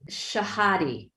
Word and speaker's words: Shahadi: Shahadi. Am I pronouncing?